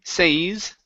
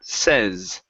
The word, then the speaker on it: says: go to the word says instead of say says okay instead of a long a sound okay uh the this word is going to be a short e so it sounds like that says says good good so